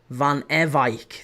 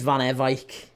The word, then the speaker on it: Van Ewijk: Van Ewijk. That's how that one's pronounced. It's the first time I've heard anyone say his name. I've called him Van Ewijk and Van Ewijk. His name's Van Ewijk.